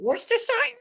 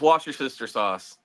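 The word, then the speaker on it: Worcestershire sauce: hard time pronouncing uh wash your sister sauce wor wor you know what I have a hard time pronouncing that one too is it worshire no it's just wash your sister sauce all right um let's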